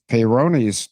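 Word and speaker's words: Peyronie's: Uh she's a Hubble because her biological donor because Bill Clinton has Peronis disease. Look it up. But let me make it easy. It's spelled P E Y R O N I E S.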